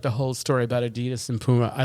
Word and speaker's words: Adidas: Isn't that the way you're supposed to pronounce it? It's exactly, Adidas. That was his name, yeah. Adidas.